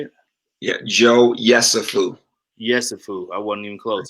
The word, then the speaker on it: Yesufu: Youssef, is that how you say it? Yeah, Joe Yesufu.